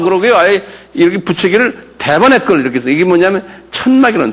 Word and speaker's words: Tabernacle: Tabernacle. 이렇게 액센트가 타에 있어요. 한번 발음해보자. Tabernacle. 예. 이것도 Tabernacle 그래요.